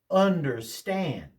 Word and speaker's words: understand: Understand.